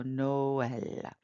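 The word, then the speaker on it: Noël: Sound and then the the two dots just mean that those two vowels are going to be pronounced separately so Noel and then um here's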